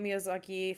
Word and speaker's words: Miyazaki: So Ghibli is an Italian word for the desert wind for the desert wind, pronounced Ghibli. Hayao Miyazaki thought the word was pretty and stole it when naming Studio Ghibli.